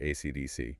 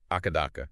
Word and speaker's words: AC/DC: Technically, it's letter by letter, AC/DC. Yeah. Oh, you know, down in Australia, you'll often hear people call him Akadaka.